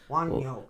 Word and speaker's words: Wunjo: This is Wunjo. Okay, it's actually pronounced Woon-yo. Wanyo. That's what it's pronounced.